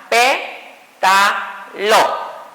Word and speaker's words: pétalo: Divido pétalo y sería pétalo. ¿Escucharon que suena parecido? Pero si la leo o la pronuncio normal, como debe ser, pétalo. ¿Dónde sonó más? En P. Entonces, por lógica, lleva acento, porque la regla me dice